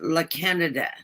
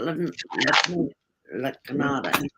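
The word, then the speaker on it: La Cañada: And if you live in the LA area, you probably live in La Canada, not La Canada.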